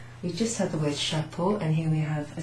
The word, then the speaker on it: chapeau: Oh, look, we just had the word chapeau, and here we have a C and an H. So, C and an H is pronounced sh.